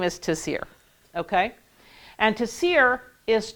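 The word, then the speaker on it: צירי: The next one is tasir.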